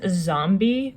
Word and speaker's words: Zombi: This is Zombie, but it's spelled without the E.